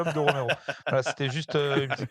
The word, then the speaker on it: Romero: dans le rette il semble qu'on dit pas Romero mais qu'on prononce tuas écorcher le nom qu'on dit cette petite de romerro voilà c'était juste une petite correction voilà mais